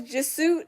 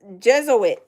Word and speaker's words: Jesuit: Goddess says Juit um pronounced uh uh wait Jez Jesuit.